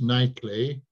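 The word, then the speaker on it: Knightley: and of course uh if you pronounce nightly you pronounce it with a silent k so n takes M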